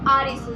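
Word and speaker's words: アリス: Actually Alice को अगर हम जापानीज़ में प्रोनाउंस करें तो दैट इज़ आरिसू।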